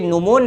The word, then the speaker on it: gnomon: तो जो अनेक्सिमेंडर थे ये नोमोन नामक एक धूप घड़ी, सनडायल यानी कि धूप घड़ी, नोमोन नामक GNOMON, जी साइलेंट है, नोमोन नामक एक धूप